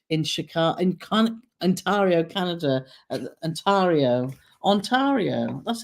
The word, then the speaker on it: Ontario: Ontario.